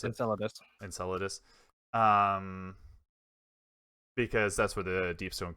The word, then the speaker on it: Enceladus: hoping it was, I'm gonna butcher this name, Enceladus or Enceladus, however you want to pronounce it. Enceladus.